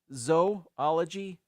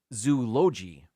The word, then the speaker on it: zoology: two letters it's ology the first two letters is not Zoo it's zoology zoology zoology not zoology it would be zooi if you were to pronounce it Zoo you know what I mean that's that's what we're getting at here zoology number three it's not